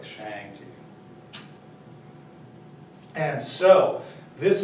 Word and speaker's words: Shang: are no hard A's no hard vowel sounds in Chinese so there are no Shang there's no Shang there's no Tang there's no Wang it's a it's a it's a soft a sound so we talk about